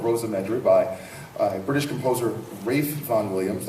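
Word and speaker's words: Ralph Vaughan Williams: by a British composer Rafe Von Williams looks like Ralph but it's pronounced Rafe Von Williams and Ashley was written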